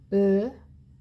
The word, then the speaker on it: Ö: If you say O sound, we have learned O sound, right? And then keep rounding your lips, bringing your cheeks inward like a fish. You should be getting close to saying it correctly.